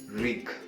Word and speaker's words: wreak: Okay, ignore the alphabet W, pronounce it wreak.